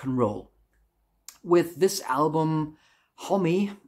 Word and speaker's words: Homme: With this album, Homie, I think that's the right pronunciation. I've also sometimes heard Hom, but I think it is Homie.